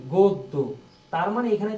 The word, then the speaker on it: গদ্য: মতন কিন্তু এখানে দেখো এখানে কেমন হয়েছে গদ্য উচ্চারণ কি গদ্য তার মানে এখানে তো অ নাই কিন্তু আছে